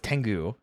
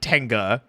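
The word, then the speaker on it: Tengu: is I'm so mad how many times I've had to tell people no it's tangu however tangu Warriors in the show they do say it like tangga so are giant Birds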